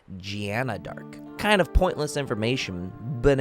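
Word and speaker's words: Jeanne d'Arc: based off of the french pronunciation of joan of arc which is gianna dark kind of pointless information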